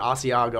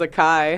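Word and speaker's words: açaí: I just learned right my mom pronounces it aago I'm like Mom that's definitely cheese I'm like come on Mom I always thought it was a Kai hey that's that's the most common pronunciation so if you can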